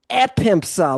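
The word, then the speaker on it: ἔπεμψα: And pempo pempo pempso epempsa. Look at the accent. Epempsa. Mhm.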